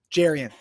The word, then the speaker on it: Jerrion: And I asked him, what is the proper pronunciation? He goes, everyone, some of my friends call me Jerrion. My mom calls me Jerrion. I was like, okay, so Jerrion. We're going to go with Jerrion then.